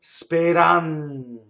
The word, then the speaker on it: speranza: right so AD speranza so notice again the Z is the T Z the N Fonuts it's double right speranza and also notice that